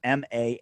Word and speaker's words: Manus: You can follow him on Twitter at ManusBaldspot, MANUS. And you can also it's Manu, man, like Manu Ginobili.